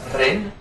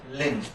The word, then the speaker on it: Rin: as they are okay the Japanese syllable Ren and depending on on which part of Japan it is more Rin or more L Lin okay but most of the time it's in between okay it's it's in